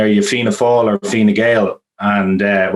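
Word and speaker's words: Fine Gael: you fina fall or fina gale and uh well fine gail was how they pronounced it down there and the only the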